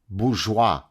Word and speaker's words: bourgeois: out to be Bourgeois bourgeois it's first of all it's called bourgeois right it's Bourgeois learn how to pronounce a French word before you pontificate like